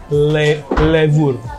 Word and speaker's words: Levure: Kenapa namanya Levure? Levure. Iya. Bacanya gitu? Iya.